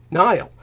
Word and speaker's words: Niall: And so this Niall Parkinson, his name was spelled in a weird way, not like the Nile River, but more like just some weird way, but he pronounced it as Nile.